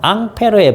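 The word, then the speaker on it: Ampère: 하는 사람이 있어요 어 앙페르의 법칙이 거 있습니다 앙페르 앙페르 사람 이름이니까 그나라 발음으로 해주고 단위 그 사람 이름 딴 거거든요 요거는 이제 암페어 어 미국식 그 영어 발음으로 해서 암페어 이렇게 부릅니다 자 자요 밀리암페어 이런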